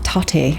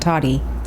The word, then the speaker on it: Tati: familiar with tari west tati tate tate toddy it's like tati i think she likes tati not toddy like t-o-d-d-y it's not like she's